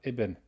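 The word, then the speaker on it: ابن: right son of the this alif you don't pronounce it if there's a word comes before you only pronounce it at the beginning of a sentence that's exercise number four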